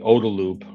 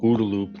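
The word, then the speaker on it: OODA loop: uh a fighter pilot called the Odaloop or Udaloop depending on how you want to pronounce O D A right.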